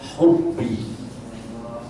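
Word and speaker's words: حبي: adalah hobi hobi itu aslinya bahasa Arab aslinya membacanya hubbi hubbi itu artinya kecintaanku terhadap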